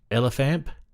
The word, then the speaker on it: LF amp: The LF amp, affectionately pronounced Elephant.